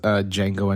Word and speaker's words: Django: recently rewatched it was Django Unchained. Where he says, I like the way you die, boy. At the very end. My favorite line from that: "The D is silent, motherfucker."